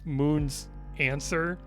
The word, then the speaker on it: Moonsdancer: don't know it's just it's just spelled out Moon's dancer but it's pronounced Moon's answer or something but anyway it's like